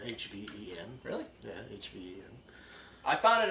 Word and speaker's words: Hven: Hven is spelled H-V-E-N.